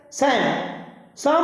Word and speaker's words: Psalm: Student, PSALM. It is pronunciated as Sam of Life.